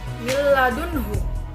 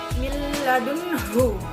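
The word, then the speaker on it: من لدنه: Yang pertama itu millah, ada nun sukun bertemu dengan lam yang disebut dengan idgham bila gunnah, yang bacanya dimasukkan. Dan yang kedua adalah dunhu, itu idhar halqi, yang dimana dibaca jelas. Jadi milladunhu. Yang selanjutnya adalah ajron hasana,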